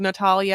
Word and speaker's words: Natalia: her Natalie Natalie Grace I called her Natalie the entire time to the point where every time they called to Natalia I was like why the didn't I say her name that way the entire Natalia so here we are